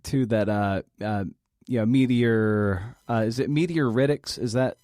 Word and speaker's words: meteoritics: Is it meteoritics? Is that how you pronounce the field? Yeah, meteoritics.